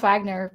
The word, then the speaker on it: Wagner: I like, it is pronounced Wagner, but I kind of wish it was like the composer Wagner.